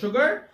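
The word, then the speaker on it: sugar: এই যে শব্দটা, এইটা তোমরা অনেকেই উচ্চারণ করে থাকো সুগার, এটা কিন্তু সুগার হবে না, এর উচ্চারণ হবে সুগার। এখানটাতে যদিও বানানে নাই, কিন্তু একটা এইচ কল্পনা করে নিবে।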